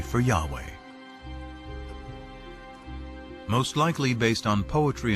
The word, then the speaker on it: Yahweh: knew God by his intimate personal name conventionally pronounced Yahweh passages with the name Yahweh which in German is spelled with a J